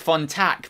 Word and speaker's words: Fontak: That's why he's called Jack Fontak, because it rhymes with yak, if you didn't already know.